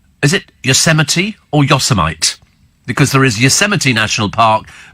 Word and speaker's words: Yosemite: Steve, says Philip, some time ago Apple released an operating system called, is it Yosemite or Yosemite? Because there is Yosemite National Park, but it's spelt Yosemite.